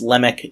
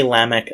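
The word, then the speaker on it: Lamech: on a grammatical Oddity so it's Lemak if you say lamik I am not going to appear out of nowhere and hit you upside the head with a Bible dictionary pronounce it however you like as much as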